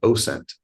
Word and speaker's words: OSINT: And have you ever heard of an approach called OSINT?